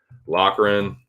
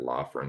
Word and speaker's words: Loughran: he made weight so Locker in I was pronouncing that law firing I'm pretty sure it's a locker in every Irish dude that I've heard talk about this dude and his name is pronounced at locker room so I'm gonna I'm